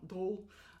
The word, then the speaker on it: Doel: And we had Doel or Dol. If you pronounce it in a Dutch Rotterdam way, as the promoter said as well, Dol.